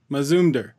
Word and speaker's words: Mazumder: that's how to pronounce it say how you pronounce it mizune der Mazumdar okay I was I was fairly close that's